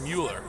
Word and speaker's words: Muller: The only guy in the league who spells his name Muller but pronounces it Miller. yeah. Potentially it could be just Mueller.